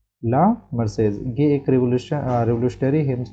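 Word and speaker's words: La Marseillaise: एंड इसका pronunciation देखते हैं। क्या बताता है? प्रोनशिएशन ला मसेज ला मारसेज ला मारसे एज ला मारसेज ला मारसेज ये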